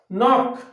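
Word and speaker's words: knock: তাহলে দেখো নক, এটা একটু মুছে দিই, দেখো নক, নক, তাহলে কে এর উচ্চারণটা কি উজ্জ আছে, নক, কে এন ও সি কে, নক।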